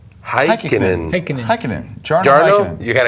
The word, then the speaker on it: Heikkinen: Jarno Heineken. No. Heikkinen.